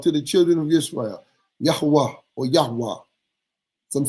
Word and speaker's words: Yahweh: You cannot use Eyeh because He told you in the next line, Yahuwah, Yahweh, Yahweh is how you say His name, and that is His name forever from generation to generation.